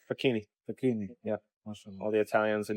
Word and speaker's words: Facchine: yeah how do you say how do you pronounce this name fakini fakini yeah all the Italians in the UK salum